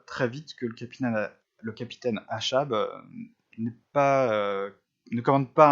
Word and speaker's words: Achab: Alors je prononce Achab, je ne sais pas, les Anglais ne prononcent pas Achab, je vais prononcer comme ça s'écrit A-C-H-A-B, en anglais il n'y a pas le C, euh, qui est décrit